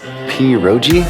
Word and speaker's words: pierogi: Pierogi? Did I pronounce that right? It's pronounced pierogi, a tasty dish like dumplings.